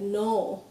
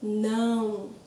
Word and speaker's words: não: no no also it's this is a big difference from how Spanish speakers tend to pronounce no as they start Portuguese cuz you need to open your mouth otherwise it's going to be more like no correct but it's now now so use a mirror